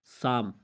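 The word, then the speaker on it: psalm: पहले पी आया हुआ है तो यहाँ पे साइलेंट होगा। इसी तरह साम, साम में आप देख सकते हैं, साम कहते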